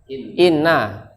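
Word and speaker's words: إنّ: yaitu ya jangan lupa ini Kalau depannya itu kata benda berarti dibacain Inna Innallaha bukan in saja ya kalau kecuali kalau dia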